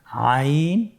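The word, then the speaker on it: عين: হয়েছে আলহামদুলিল্লাহ আজকের পর্বের পরবর্তী হরফ দুটি হল আইন আবার বলুন আইন আমরা এককভাবে শিখেছি এখন আমরা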